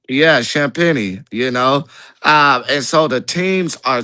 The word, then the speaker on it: Champagnie: You said Champagne. That's how you say it. Yeah, Champagnie.